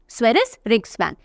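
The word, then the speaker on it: Sveriges Riksbank: स्वेरिस रिक्सबैंक, ये जी silent होता है।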